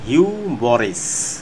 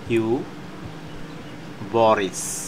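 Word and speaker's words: hubris: Viewers, আমরা এখন আরেকটি শব্দ দেখতে পাচ্ছি যার উচ্চারণ হচ্ছে হিউবরিস। আমি যদি উচ্চারণটা লিখি এভাবে, হিউবরিস, যেটার বাংলা অর্থ হচ্ছে অতিরিক্ত গর্ভ।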